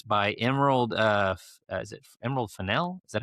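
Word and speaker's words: Fennell: And then Weathering Heights by Emerald uh is it Emerald Finel?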